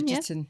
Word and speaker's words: Bridgerton: Bridgerton.